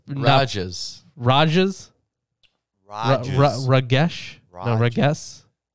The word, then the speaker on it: Rages: It's Rajas. Rajas? Rages. Ragesh? No, Rages? Rages. No, it's spelled as the word rages, but it has an accent over the A. Rajas.